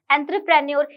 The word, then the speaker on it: entrepreneur: तो एक बार इसको देखते हैं हम लोग, क्योंकि एंत्रे बोला है मैंने। देखिए आप लोग, इस स्पेलिंग में आपको एंत्रे सा उच्चारण हो रहा है और इन दोनों में आपको क्या दिख रहा होगा, एंटर दिख रहा होगा।